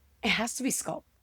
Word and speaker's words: SQLPT: And if you look up the name Sculpt, the way it's spelled, SQLPT, there is no other Sculpt in the nation or internationally.